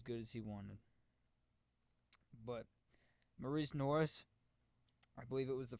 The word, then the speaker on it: Morice Norris: has always pronounced it Morris Norris. His name is Maurice Norris.